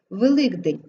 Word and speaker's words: Великдень: буде позначати звук г Великдень ки вимовляється як Ґ тому що після Кей йде наступні дзвінки йди а як же ким